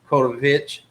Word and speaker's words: Kotowich: It's with a W, but I think it's pronounced Kotovich. Is the way correct.